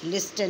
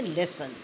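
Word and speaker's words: listen: टू लिसन, टू लिसन, एल आई एस टी ई एन, लिसन, T silent, लिस्टन नहीं कहेंगे, लिसन. Third word across, across mean on other side.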